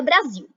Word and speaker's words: Brasil: Qual é a sílaba tônica da palavra Brasil? Se você disse zil, acertou.